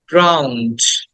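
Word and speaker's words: drowned: জ ক্লথস খেয়াল করো ক্লথস 24 উড বি ড্রাউন্ড এটাকে অনেকে ড্রন বলে বাট উচ্চটা হবে ড্রাউন্ড ড্রাউন্ড ড্রাউন্ড ড্রাউন্ড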